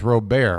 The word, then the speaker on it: Robert: both ways Derek it's Ro Bear right you got to give it that little bit of a little bit of an accent this pitch is up